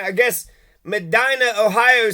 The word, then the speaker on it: Medina: Medina Medina I guess Medina Ohio says it's it's Medina it's Medina they'll say it's the opposite the people here say it's the opposite of how the people of Medina Ohio pronounce Medina so anyways uh we'll